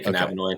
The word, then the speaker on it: cannabinoid: Cannabinoid. Is that a misconception? I feel like most people say cannabinoid. You can say it either way. I like to say cannabinoid.